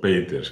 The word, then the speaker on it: Peeters: Os comenté al principio que sabíamos poco de Clara Peters, o Peters, que es como se debe pronunciar en neerlandés, pero hemos ido aprendiendo algunas cosas.